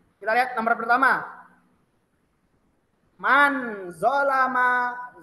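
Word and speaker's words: ظَلَمَ: Dia di sini domah atau u, sedangkan di sini fathah atau dibacanya a, zolama.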